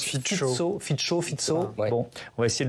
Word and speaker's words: Fico: On va commencer peut-être par rappeler que Robert, alors je crois qu'on prononce Fico.